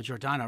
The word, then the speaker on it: Giordano: And did I pronounce that correctly? The Giordano Theatre. Yes, okay, Giordano.